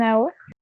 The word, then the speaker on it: hour: He came An hour. an, An an hour. an hour. An hour ago. Yeah, good. Yeah, because even though we have H here, the sound is a vowel sound.